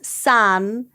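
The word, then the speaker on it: 三: In Chinese culture, 3, which is san, is considered a good number because it sounds like the word for alive, which is sheng, compared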